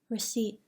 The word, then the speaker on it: receipt: Do not pronounce the P in the following words: pneumonia, psychiatrist, psychic, psychology, psychotic, receipt. Do not pronounce the T